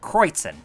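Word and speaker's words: Kreuzen: Kreutzen.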